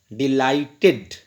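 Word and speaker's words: delighted: यहाँ पे अगर गौर करते हैं, डिलाइटेड आई डी की आवाज़ होगी, डिसाइडेड आई डी की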